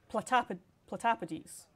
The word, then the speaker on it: platypodes: Oh, platypodes. That's how it would be pronounced. If I remember correctly, because I think it would be the same as octopuses, which would be octopodes, because it would be Greek root if you wanted to be really, really particular.